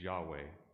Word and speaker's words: Yahweh: but did you know to say the word correctly to pronounce those consonants y h w h you do not close your mouth in fact to correctly pronounce the most sacred name of God does not allow you to use your tongue or to close your lips the pronunciation of the Sacred name was meant to emulate breath inhalation and exhalation for announcing the name